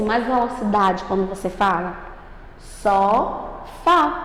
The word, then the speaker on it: sofá: Sofá. Você pode perceber que é o Fá.